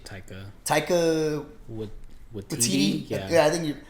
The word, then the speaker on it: Taika Waititi: We've kind of built up after we've gotten what's his face, how do you pronounce the director's name again? Just say Taika. Taika Waititi? Yeah, I think you Taika Waititi.